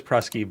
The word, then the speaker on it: Prusky: Yeah, but then you have to say Prusky or is it Prusky? And it is Prusky, but you know he won't correct you if you say his name incorrectly.